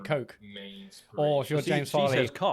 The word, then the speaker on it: Koch: So, but no, but Colin, that's how you're meant to pronounce Koch Media. Those games in that way, Coke.